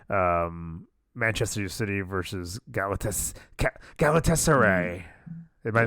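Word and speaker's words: Galatasaray: Um Manchester City versus Galatas Galatessay. Am I pronouncing that right? Galataser.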